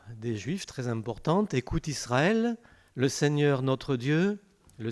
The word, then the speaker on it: Israël: du est seul mais vous remarquerez au passage que je dis israël est pas israël et les juifs disent tous israël et ils ont raison parce qu en france l es se prononcent eux quand il est entre deux voyelles et ici c'est pas le cas donc on n'y pas normalement alors c'est dans l'habitude mais en principe on nie pas israël et les juifs disent